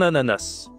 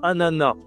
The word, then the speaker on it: ananas: Un ananas. Tu peux aussi dire un ananas. Les deux prononciations sont possibles.